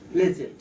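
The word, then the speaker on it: pledget: or momentum or whatever p l e d g e t d d is silent pleas so this is one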